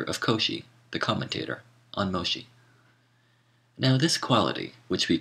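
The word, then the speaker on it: Mōshi: Moshi footnote Moshi the Japanese pronunciation of the name of the Chinese philosopher mensi whom Europeans call mencius end of footnote says benevolence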